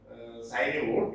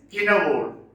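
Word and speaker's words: Cynewulf: It is not pronounced as Sinewold, it is Kinnawold.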